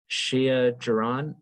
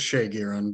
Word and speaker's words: Shay Giron: Shia Jaron, did I say that correctly? No, it's Shay Giron, but don't worry.